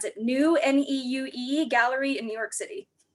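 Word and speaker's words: Neue: She eventually won, and it is now hanging in the, I'm gonna mispronounce it, New N-E-U-E Gallery in New York City.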